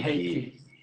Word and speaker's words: Heikki: It would be like hey and ki. So you say Heikki.